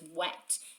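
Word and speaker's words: whet: And then the other one, it says wet. If you can see, it's spelled W-H-E-T, which must mean doesn't mean wet. Wet like something's wet from water, but this wet means sharpen.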